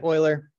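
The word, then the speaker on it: Euler: can use oil's identity I still not exactly sure how to pronounce oil's name I'll just I'll just say Oiler we can use Oilers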